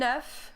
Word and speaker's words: œuf: So we have un œuf, so we have the binding here, that's why you have the ne sound. Neuf is like when you say in English enough.